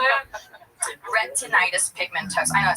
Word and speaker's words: retinitis pigmentosa: Retinitis pigmentosa.